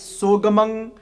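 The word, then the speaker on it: ਸੁਗਮ: And just for some pronunciation as well, because the word is gamang, and that's why I'm slightly separating the sasa. It's sugamang, so it's so gamang, but we're gonna say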